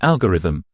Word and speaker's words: algorithm: pronunciation of the word the stress is put on the first syllable and thus the O in the second syllable is weakened to awah sound so